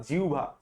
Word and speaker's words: জিহ্বা: ধরো তোমার মুখের মধ্যে কোন খাবার ঢুকছে তাহলে তুমি প্রথমে এই মুখের যেই জিহ্বা এবং জিহ্বা তো না জিভা সঠিক উচ্চারণ নিয়ম অনুযায়ী এবং দাঁত দিয়ে তুমি খাদ্রব্যটাকে পিশতেছো।